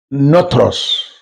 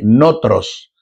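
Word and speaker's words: nothros: es el más aceptable el término es not notros así se se pronuncia así notros se escribe n o t h r o s notros Ese es el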